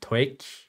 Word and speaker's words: TOEIC: If you got over 830, I think this is pronounced TOEIC. I will call it TOEIC or higher.